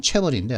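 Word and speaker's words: chaebol: 발음은 체벌인데 하여튼 재벌이 있습니다.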